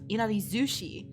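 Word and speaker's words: いなり寿司: Like inari sushi is written like inari sushi, but it's pronounced inari zushi with a zu.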